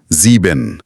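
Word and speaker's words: sieben: लेकिन जब एस किसी वोवेल मतलब ए इ आई ओ यू से पहले आता है तब इसका साउंड इंग्लिश के जेड जैसा हो जाता है। अच्छा जैसे नंबर सेवन में जीबिन। ज़ीबिन। अच्छा। तो एस की पोजीशन से उसका साउंड बदल जाता है। आइंस में एस, जीबिन में जी।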